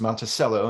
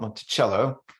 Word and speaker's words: Monticello: That's why it's pronounced Monticello and not Monticello.